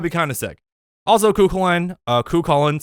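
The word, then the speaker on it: Cú Chulainn: Also, Kukulin, sorry, that's the correct pronunciation.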